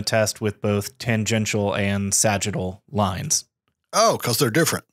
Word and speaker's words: sagittal: in two different orientations those are tangential and sagittal lines am i first of all pronouncing that right you got it okay and why do we perform the test with both tangential and sagittal lines oh cause they're